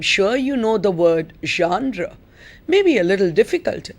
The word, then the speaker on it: genre: you know the word genre may be a little difficult in pronunciation but you spell it as g e n r e pronounced genre because it's a french word and somehow in the